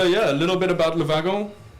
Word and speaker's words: Le Wagon: a little bit about Lavagirl as its pronounced in French or low wagon and as we pronounce it so la vaca was